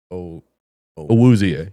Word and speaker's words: Awuzie: I can't pronounce his name, but it's like, Awuzie.